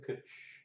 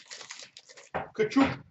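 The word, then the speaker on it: Tkachuk: Kachuk.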